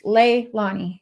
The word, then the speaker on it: Leilani: We're saying her name wrong. It's Leilani. That's what I just said, Leilani.